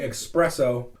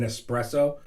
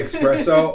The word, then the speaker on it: espresso: I'll just be here drinking my flat white espresso. Oof. People that pronounce the X in espresso. There is no X. I know there's no X, but people say espresso.